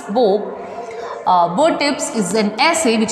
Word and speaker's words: Beau: This particular essay, Bottips, yes, its pronunciation is Bo, spelling is B-E-A-U, but its pronunciation is Bo.